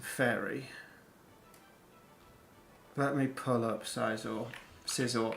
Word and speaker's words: Scizor: Let me pull up Scizor. I keep pronouncing it like it's Scyther, and I always have done. And I know that's not what people say.